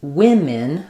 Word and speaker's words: women: And then just really here trying to have no vowel there versus women. Both of these say the same sound and it's the I vowel.